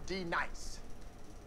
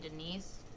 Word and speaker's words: D-Nice: Now, D Nice. Do you mean Denise? Bruh. You say your name right now. Denise? Say it right. Denise. Correctly. Denise. Right. Denise. Right. D-Nice.